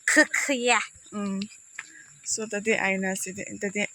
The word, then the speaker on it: Hokiye: It's very hard to pronounce. Yeah. You don't need to take out your tongue also. Hokiye. Hokiye.